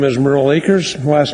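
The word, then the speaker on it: Akers: much thanks madam chair my name is merle acres last name is spelled a kers and i've been in this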